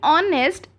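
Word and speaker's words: honest: अब यहाँ पे भी ऑनेस्ट एच से शुरू है, पर क्योंकि इसका साउंड ओ से शुरू हो रहा है, एच साइलेंट है, इसलिए हम यहाँ पर एन यूज़ करेंगे।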